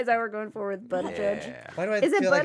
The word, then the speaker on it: Buttigieg: Matt Stoller called it is him, pronounced the missing Buttigieg, guy.